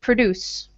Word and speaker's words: produce: The first word, Oscar, let's say produce. Produce. Mm-hmm. So produce, the second syllable will be strong. Can you do second syllable a little stronger?